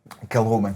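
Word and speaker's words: Kilchoman: How do you say that? Kilhoman or Kilcoman? Kilhoman.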